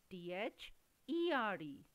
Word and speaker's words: there: Children, have you noticed both these words sound the same? Both are having same pronunciation, there, there, although the spellings are different, T-H-E-R-E, there, and T-H-E-I-R, there, there, there, both are there.